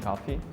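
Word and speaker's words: кофе: So in European Portuguese, we say café, meaning coffee. The pronunciation is café. In Russian, we say coffee. So like the accent is on the O part.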